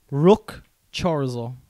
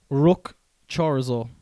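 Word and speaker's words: Ruch Chorzów: Rook Chorzo. Rook Chorzo. Could you spell it for me? Definitely not how it's pronounced.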